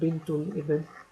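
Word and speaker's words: بنت الابن: the al ibn, and the proper way to say it is as ibnul ibn, and bintul ibn, um, and so this is a great grandson.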